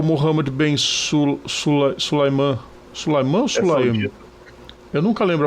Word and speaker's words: Sulayem: Sulaiman ou Sulaim? Eu nunca lembro a pronúncia do nome dele. Vamos ver aqui. É dos Emirados Árabes, que é apoiador ultra ferrenho da Arábia Saudita. Mohammed bin Sulayem. Sulayem, isso.